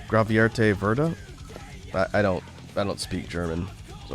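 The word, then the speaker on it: Gravierte Würde: It's pronounced Gravierte Verda.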